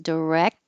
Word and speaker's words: direct: more common and wreck you won't hear the K or the T cuz the tongue will go to the K position because this looks like a c but it's really a k direct and then the tongue